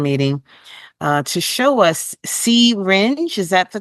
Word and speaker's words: See-Rynge: uh to show us C ringe is that the correct way you pronounce the device correct it's a word play on the word syringe so cinge yes yes so that